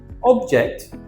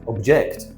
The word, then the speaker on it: object: Object and object. It's a different pronunciation.